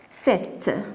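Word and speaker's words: sept: Alors, on prononce le T. C'est P qui ne se prononce pas.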